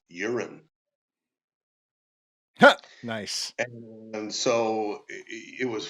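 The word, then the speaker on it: Jorunn: Nordic name uh and it's pronounced urine nice and so it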